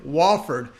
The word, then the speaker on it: Wofford: well actually i got to say it properly wofford as i was on one of the comments there i wanted to make sure i got it right okay wallford terriers minus two terrorists they like shooting on